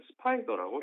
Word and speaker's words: SPDR: SPDR은 세계 3위 ETF 운용사인 스테이트 스트리트의 ETF 브랜드로 우리말로는 스파이더라고 읽습니다.